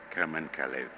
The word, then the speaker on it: Kamen Kalev: The Special Jury Award goes to the film February, and the director is Carmen Calais. It's difficult to sometimes pronounce it properly. It's Kamen Kalev.